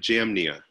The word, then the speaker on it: Jamnia: Or Yamnia? I forgot how it's said. Yeah, we pronounce it Jamnia.